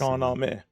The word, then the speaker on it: Shahnameh: Shahnameh. That's In how over it's pronounced in 50,000 Farsi.